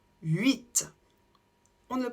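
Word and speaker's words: huit: la même manière 8 ici on ne prononce pas le H du début 8 on ne le prononce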